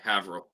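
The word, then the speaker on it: Haverhill: all right H okay havil I got you it's spelled ha Hill but it's not pronounced that way by Massachusetts natives yeah Peter B says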